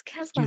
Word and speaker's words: Keselowski: Keselowski. Ke- it's Keselowski. Keselowski. That's how everyone else says it.